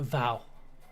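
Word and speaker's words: fuath: Oh, Vow. That's what it is. It's. It starts with an F, but it's Gaelic. Scottish Highlands folklore and Irish folklore, especially.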